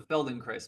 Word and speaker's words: Feldenkrais: That's the Feldenkrais method.